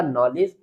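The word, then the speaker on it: knowledge: Next देखें एल इ डी जी ई आर इस यहां भी डी जी एक साथ है तो डी को साइलेंट रखेंगे। ये लेजर इसी इसी तरह ये हो जाएगा नॉलेज।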